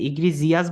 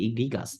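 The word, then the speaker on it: egregious: ঠিক আছে, ইগ্রিজিয়াস বলতে পারেন, কিন্তু এটা উচ্চারণটা হবে ইগ্রিগাস।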